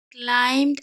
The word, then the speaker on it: climb: ঠিক আছে, after some time, কিছুক্ষণ বাদে, দ্য ফ্রগ ক্লাইম্বড আপ। আচ্ছা, এখানে একটা কথা বলি, CLIMB, এটা হচ্ছে ক্লাইম, এখানে বিটা কিন্তু সাইলেন্ট, তার সাথে ইডি যুক্ত হয়ে এটা পাস্ট টেন্স হয়েছে আর উচ্চারণ হচ্ছে ক্লাইম্বড, ক্লাইম্বড আপ।